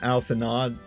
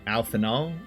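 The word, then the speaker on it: Alphinaud: they are out see it's not alphanod it's alphanull oh alphing alpha now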